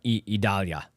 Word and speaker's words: Idalia: in the direct uh purview of uh uh idalia is the correct pronunciation of that by the way Italia those